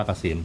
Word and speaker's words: เกษม: แ@ นำ หน้า นะ KM SEM อ่าน ว่า เกษม ชื่อ ช่าง ใหญ่ นั่น เอง ร้าน ตั้ง อยู่ ปาก ซอย พุทธ 52 เขต สาย ไหม นะ ครับ กทม.